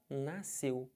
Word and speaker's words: nasceu: Eu sei, só que SC, eles não podem ser pronunciados numa palavra que depois desse SC você tenha E ou I. Por exemplo, piscina. Aqui, você tem um I. Se fosse um E, tipo nasceu, também não pronuncia.